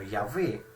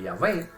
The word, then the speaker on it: Yahvé: Entonces dice el esclavo, oye, una pronunciación bisílaba como la que podemos ver acá, es decir, una pronunciación como la de Yahvé, que tiene solamente dos sílabas, Yahvé, pierde la Jolán, no tiene la Jolán, que sí aparece en